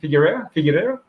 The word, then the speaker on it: Figueiredo: The fight against Brandon Moreno and man, wow, I'm sorry to not be able to pronounce it. What was the last name for Davison? Figueiredo.